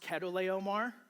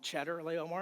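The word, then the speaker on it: Chedorlaomer: And by the way, I know it's pronounced Ketto Omar, but since the Bible makes him out to be a bad guy, I think it's funnier to call him Cheddar Leomar because it reminds me of cheese.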